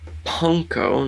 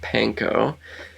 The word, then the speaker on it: panko: fun fact um ladies and gentlemen um it's pronounced punko not panko and pong is it's a it's japanese for